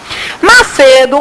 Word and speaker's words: Macedo: Macedo, qual é a sílaba tônica? C. Termina com qual letra? Pode ter acento? Não.